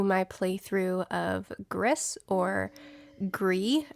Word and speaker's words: Gris: playthrough of griss or gree i believe is how people in the comments last time were telling me to pronounce this um the makers of this game i believe are from spain so that pronunciation makes sense if you look on